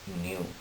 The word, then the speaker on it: nu: of frequency is Hertz the symbol of frequency is Mu you have to pronounce it as new it is also a